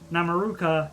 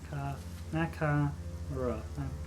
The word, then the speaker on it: Nakamura: God, why is my brain so suddenly forgot how to pronounce it? Namaruka. Yeah, I pronounced that wrong. Nakamura.